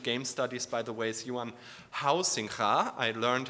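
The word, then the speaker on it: Huizinga: figures of recent game Studies by the way Yan housing I learned how to pronounce it correctly um um and uh he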